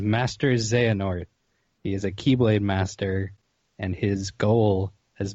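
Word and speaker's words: χ-blade: So it's spelled like X Blade. But it's not X-Blade, which is a different game. Yes. So the Keyblade is the ultimate weapon that grants its wielder control of Kingdom Hearts.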